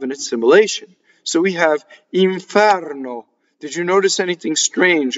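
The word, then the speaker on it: inferno: Watch, iŋfɛrno.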